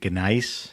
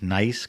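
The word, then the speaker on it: gneiss: soil is mostly granite and how do you pronounce it ganice nice g g g yes in s m it's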